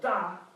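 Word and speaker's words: 大: That's English words that sound a little bit like the pronunciation of the character we're trying to learn. So, da sounds a little bit like the beginning of the word Darth Vader.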